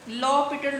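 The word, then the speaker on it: L'Hôpital: इस फंक्शन के ऊपर लॉपिटल रूल अप्लाई कर सकते हैं, एल, ठीक है, इसके स्पेलिंग तो हैं हॉस्पिटल के, लेकिन इसका ये रूल का है एल लॉपिटल रूल।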